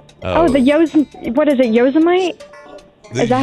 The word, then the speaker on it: Yosemite: Oh, the what is it, Yosemite? The Is that how you pronounce it? Yosemite? Donald Trump, is that you? Yosemite? Is this Yosemite? Is this Isn't Donald that a Trump we're national talking to? Yosemite is right, though.